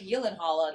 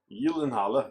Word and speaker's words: Gyllenhaal: I know for a fact that Jake Gyllenhaal, that's how that's pronounced. Gyllenhaal. Gyllenhaal. Yeah, the J is not a J. Just like a fjord doesn't have a J in it. Neither does Gyllenhaal.